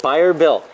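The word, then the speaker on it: Bayer Built: Buyer Built.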